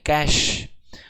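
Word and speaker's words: cache: क्या होता है ये कैश मेमोरी, कुछ लोग तो कैचे बोलते हैं, कैचे नहीं कैश, प्रोनाउंसिएशन कैश है, ठीक है ना, स्पेलिंग CACH है पर प्रोनाउंसिएशन कैश होता है।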